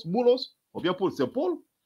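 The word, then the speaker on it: بولس: En arabe, il n'y a pas de lettre P. Il prononce comme B.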